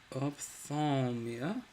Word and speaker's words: ophthalmia: Ophthalmia? Ophthalmia, inflammation of the eye, especially ophthalmia. Okay, I am saying it right. It's ophthalmia. At least that's what the IPA says.